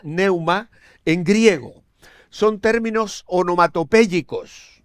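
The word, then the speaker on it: pneuma: Las palabras bíblicas para espíritu son ruach, R-U-A-C-H en hebreo, ruach, y neuma, con la P delante, que no se pronuncia, neuma, en griego.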